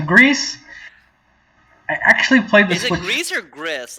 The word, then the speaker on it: Gris: i actually played this greece like how do you pronounce it i think it's greece because it's like the it's like spanish for grey okay yeah that makes